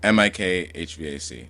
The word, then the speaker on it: mikHVAC: It's like M I K Hvac. That's how I pronounce it.